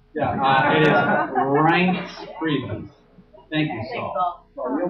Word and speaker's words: Priebus: How do you pronounce the name? Yeah, it is Priebus.